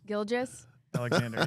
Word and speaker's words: Gilgeous-Alexander: And it was like, so it was Shane, the comedian's face, Shane Gillis, on Gilgeous-Alexander. Is that how you say it? Gilgeous? Alexander, yep.